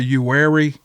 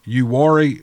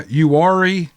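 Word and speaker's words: Uwharrie: troop in the nearby uary he he spelled it out phonetically for me you worry and see i pronounced it wrong uh in the nearby yuari national forest if you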